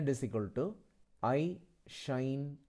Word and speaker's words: sinh: the last video itself the proper way to pronounce this is shine K than Kos can